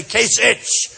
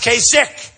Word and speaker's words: Kasich: more than Kasich and I don't know how you pronounce his name kasik it's I every time I see it I say kich but it's pronounced Kik so I'm doing a